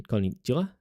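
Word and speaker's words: こんにちは: The same can be said about wa in konnichiwa. It is pronounced as wa, but spelled as ha.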